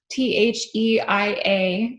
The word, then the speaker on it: Theia: So Theia, T-H-E-I-A, or Theia, is probably how you say it, Theia, was the original name of a Mars-sized planet And Theia means the mother of Selene.